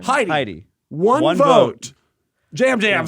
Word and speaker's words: Yam Yam: And at first we were like, is it Yam Yam? No, but no, Jam It's just Jam. it's spelled Yam Yam.